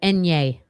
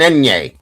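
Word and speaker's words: eñe: That's a Enye. Enye. Senor. Yes. Comes from our teacher. It's an Enye.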